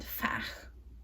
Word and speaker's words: fach: Although they call it, I think it's German, they call it something like four, which is vier, and fach, F-A-C-H, I think that's how you pronounce that.